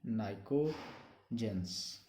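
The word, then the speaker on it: pnictogens: p silent होता है, p से स्टार्ट होते हैं, नाइकोजेंस।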